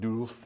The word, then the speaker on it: DULV: over to an organization called DULV, or they always pronounce it DULF in German.